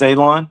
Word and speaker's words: Elon: But I want to start off by saying my name is Elon, pronounced like you're going to cut grass, like you're going to cut a lawn. It's not spelt that way, but it is pronounced that way.